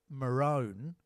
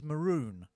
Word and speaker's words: maroon: I've mentioned here is the color Maron right which is maroon right we know it everywhere else in the world as maroon right CU it's spelled m a r o n maroon but here they call it Maron nobody knows why I